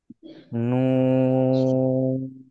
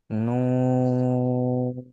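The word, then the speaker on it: ن: করতে হবে এবার দেখেন এই হরফটা খেয়াল করেন নুন নুন রাফি আপনার পড়া শোনা যাচ্ছে না কেন রাফি বলতেছি তো আমি ভালোভাবে বলেন দুজন একসাথে নুন নুন মাশাল্লাহ নুনে কয় আলিফ টান হবে তিন আলিফ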